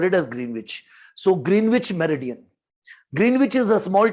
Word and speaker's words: Greenwich: the pronunciation as Greenwich meridian but the correct pronunciation in UK for it is Greenwich.